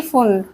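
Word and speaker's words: Pfund: पी फुल, पी क्या है? Silent, क्या है?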